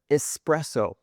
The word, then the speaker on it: espresso: Espresso is spelled with an S, but a lot of native speakers say espresso. For all the Italians watching right now, I think you'll know how wrong that sounds. We need to say espresso, not espresso, but espresso.